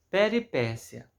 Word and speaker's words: peripécia: Peripécia. Aí tem aqui a separação silábica, peripécia. Então aqui é uma palavra proparoxítona, porque ela é acentuada na antepenúltima sílaba.